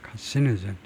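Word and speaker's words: carcinogen: 제가 세 번째 음에다 엑센트를 두려고 했는데 카시노젠이 아니고 카시노젠 두 번째 음절 카시노젠 다시 한번 카시노젠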